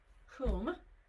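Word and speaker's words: hum: energy of the heart then whom it's pronounced whom whom is um ex what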